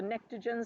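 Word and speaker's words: pnictogen: into like geeky stuff the nitrogen group is actually called the neogen spelled with a silent P how fun is that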